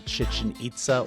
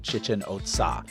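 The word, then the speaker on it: Chichen Itza: says they're represented by chichin ITA or some people pronounce it Chichen OTA if you look to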